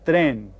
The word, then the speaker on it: tren: En un tren. And that sounds kind of like the way we pronounce this word in English, doesn't it? We call it a train, en un tren.